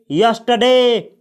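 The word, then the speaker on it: yesterday: और आप यहां पे देख सकते हैं कि इसको यस्टरडे नहीं पढ़ा जाता है, इसको बोला जाता है यस्टरडे। यस्टरडे इसमें आर जो है उसका प्रोनाउंसिएशन नहीं किया जाता है, यानी उसका उच्चारण नहीं किया जाता है।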